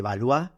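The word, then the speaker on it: Valois: la alta Edad Media Juan de valu que se escribe Juan de balois con v o corta y las siete princesas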